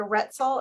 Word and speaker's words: Roetzel: Today we have Rebecca Roetzel. Am I pronouncing that correctly?